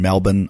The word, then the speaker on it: Melbourne: I'll be in Melbourne, Australia, the 19th, 21st, 22nd at the Comics Lounge in Melbourne, Australia. I say Melbourne, you might say Melbourne, but anybody in Australia knows I say it right.